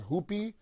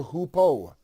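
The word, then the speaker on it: hoopoe: birds it's known as some some pronounce it as hoopy some say it's a hoopo h-o-o-p-o-e if you google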